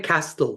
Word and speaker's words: castle: I'm exactly in a room inside a palace inside a castle to be more precise. Castle. I learned today that yeah in English you don't pronounce the t when you say castigio which will be in espanol in Spanish castle.